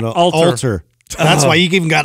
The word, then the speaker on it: Alter: Speaking of people like that, by the way, Adam, you've been pronouncing someone's name wrong for like 3 years. Who? Adam Atler. Alter.